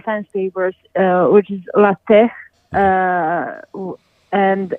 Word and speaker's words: LaTeX: chops on pronunciation yeah that's why you pronounce it lat and not latex because that that may sound like something hor complet different okay all right so